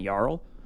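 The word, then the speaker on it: Jarl: So, I found Storevald, the frost giant, Yarl, who will be my commander. He is a it's pronounced jar four and yeah, go ask your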